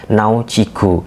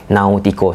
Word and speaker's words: Náutico: Nama klubnya jika kita gunakan pelafalan Brazil yaitu Náutico. Namun jika kita gunakan pelafalan bahasa Indonesia, nama klub sebelumnya Náutico.